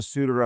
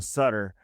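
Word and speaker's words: Suter: We got another suitor on the team, which is all that matters. Just don't call him Sutter.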